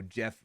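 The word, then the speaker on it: Geoff: you so much um pronounce Jeff friends call me G off see that's kind of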